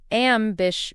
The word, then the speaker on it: ambition: For pronunciation, it's ambish. The stress is on the second syllable. Bish. ambish. Make sure you don't overemphasize the titch. It's a sound there.